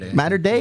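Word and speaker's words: Mater Dei: Mater D? What, Mater Die? How do you say it? Mater Day? Mater Day. Yeah.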